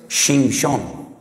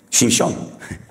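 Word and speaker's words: שמשון: Porque Sansón en hebreo es Shimshon. Shimshon. Ya sé que les causa risa, pero es que estoy pronunciando la palabra sol.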